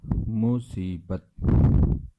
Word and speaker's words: مصیبت: ہیں۔ پہلا لفظ ہے مصیبت۔ مصیبت، میم کے اوپر پیش، صاد کے نیچے زیر، یا کے اوپر جزم،